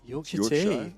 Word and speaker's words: Yorkshire: you to the states what would it be York Char yes finally you said it right straight off with Yorkshire have you have you had it now Yorkshire